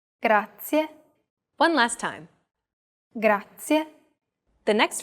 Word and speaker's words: grazie: your turn once more do you remember the trilled r we talked about it in lesson two even though it looks like the english r the pronunciation is very different listen to how marika is pronouncing this sound altogether it's grazia one last time the